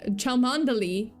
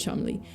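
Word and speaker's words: Cholmondeley: found it out but um but yeah apparently chel mandali is not chel mandali it's CH it's pronounced chle make it don't make it not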